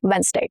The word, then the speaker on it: Wednesday: Wednesday. We are shortening the number of syllables here if you notice.